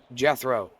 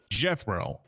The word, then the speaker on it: Jethro: How do you pronounce it? Jethro. sort of like it's sort of like there's another name that's Oh, I apologize. Jethro. There you go. Jethro.